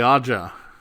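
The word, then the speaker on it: Ağca: is where Muhammed Ali AA um and that's how the that that AG GCA is pronounced in Turkish aa aa and stress on the first one um but but anyway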